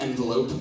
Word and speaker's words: envelop: is in develop yourself it's spelled like envelope but it's pronounced envelop it basically means to